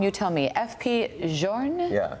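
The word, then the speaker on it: F.P. Journe: These are, and if I say it wrong, you tell me, FP Journe? Yeah, FP Journe.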